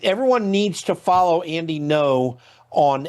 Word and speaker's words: Ngo: Um the next Yeah, by the way, I just shout out people like Andy No, his last name is spelled G Ngo.